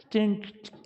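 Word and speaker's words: 金: 찐 보통 김자를 그렇게 이제 발음하는데 찐선생?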